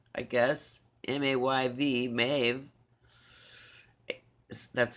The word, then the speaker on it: Maeve: a celtic goddess my aide my a yeah maeve i guess m-a-y-v maeve that's how it's pronounced uh phonetically a celtic goddess maeve celebrates